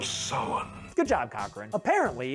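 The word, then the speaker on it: Samhain: traditions of halloween or as he correctly pronounces it the festival of summon good job cochran apparently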